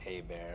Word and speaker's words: Herbert: and by the way my last name is pronounced ha bear if you care yes